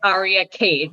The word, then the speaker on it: Aria Khaide: k h a i d e and it's arya k that's how you pronounce that my instagram is xo ariakade my